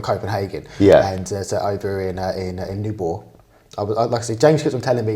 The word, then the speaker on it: Nyborg: So I was calling it's where we stayed is Nyborg, but I was calling it Newburgh, and just doing it on purpose.